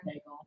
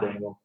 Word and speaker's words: Daigle: I say Lauren Daigle. Yeah. Dangle. Okay. What, Don't, it's not Dangle.